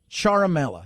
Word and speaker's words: Ciaramella: All right, his name is Eric Ciaramella. Ciaramella is the way that it's pronounced here.